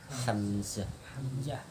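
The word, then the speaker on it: حمزة: lawan hamzah. Ah, iya. Ha lawan hamzah. Kalau paman Nabi itu pakai ha. Hamzah. Hamzah Ben tu. Nabi Thalib. Hamzah tu bukan hamzah. Nah, pakai ha. Ha puang ha biasa.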